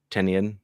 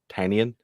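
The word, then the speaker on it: Tynion: i think everyone says tinian wrong or tanyan it's it actually is pronounced tennian he has a newsletter called tiny onion i think that's how you meant to say his name okay there we go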